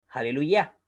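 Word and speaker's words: הללויה: las biblias en español en abril se dice aleluya con las actuaciones la última sílaba entonces esta regla nos dice que el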